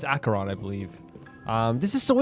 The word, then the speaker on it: Acheron: I think I keep pronouncing, by the way, Acheron, like Acheron, Acheron. Yeah, it's Acheron, I believe.